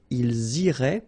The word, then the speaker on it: iraient: So, ils iraient, and then if you look carefully, you get A-I-E-N-T, okay? But then phonetically, it goes like E, okay? So, technically, these form and these forms here are pronounced the same way, and it goes like irait, okay?